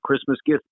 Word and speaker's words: Christmas gift: gift at them, and the way they usually spelled it was with an apostrophe after the F. They didn't pronounce the T, although sometimes they did.